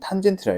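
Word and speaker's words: tan: 얘는 코사인이고 얘는 탄젠트라 읽어. 한글로 써줄게. 얘는 사인이라 읽고 얘는 코사인이라 읽고 그 다음에 얘는 탄젠트라고 읽습니다.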